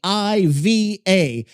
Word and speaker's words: Aiva: One would pronounce that as Iva. It's quite straightforward really. And if one can manage a proper cup of tea, one can certainly manage a twocllable name.